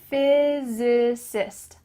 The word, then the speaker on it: physicist: There's different syllables here, so say it with me. Physicist.